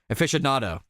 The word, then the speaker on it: aficionado: I thought you pronounced it A there. Aficionado.